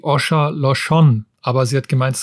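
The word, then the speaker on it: Åsa Larsson: Ich habe einen von Asa Larsson aus Schweden und sie hat mir mal gesagt, sie wird gar nicht so ausgesprochen. Eigentlich heißt sie Osha Loshon, aber sie hat gemeint,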